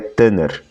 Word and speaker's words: Tanakh: que nós chamamos de Tanakh, embora a sigla seja T-N-K, Tanakh, e muitos pronunciam Tanakh, a pronúncia no hebraico moderno seria Tanner.